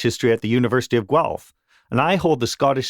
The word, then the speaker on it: Guelph: So I work for a university called the University of Guelph. That's how it's pronounced.